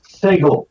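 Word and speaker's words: Sagal: No, it's Segal. He doesn't have a ponytail. When I'm trying to rhyme with t-ball, it's Segal.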